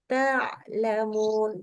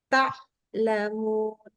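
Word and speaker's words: تعلمون: Kalau membaca ta'lamun maka ta'lamun. Tidak boleh ta'lamun. Itu syiddah. Atau begini. Ta'lamun. Nggak sampai berhenti. Ada titik di mana dia nggak berhenti suaranya. Jadi kayak rafa. Jadi kita harus hati-hati banget perbedaannya. Dan itu sangat tipis.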